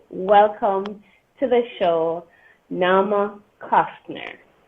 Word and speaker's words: Kostiner: Please welcome to the show, Naama Kostiner. Did I pronounce it correctly? Kostiner. It's okay. I don't mind being Kostiner. Okay, what's the correct pronunciation? Kostiner.